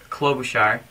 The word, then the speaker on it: Klobuchar: This video is also addressing Representative Keith Ellison, Senator Al Franken, Senator Amy Klobuchar, yeah, I said it right, and also House Committee Chairman of Agriculture, Representative Frank D.